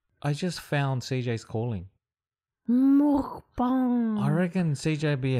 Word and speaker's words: mukbang: Mukbang. I reckon CJ would be a hell of a mukbanger. Can we do the pronunciation?